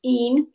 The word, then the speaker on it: in: Again, we have a pronunciation warning because kids see and we see IN and we want to say Ethnine Terra Pax, but of course in Latin it's EEN.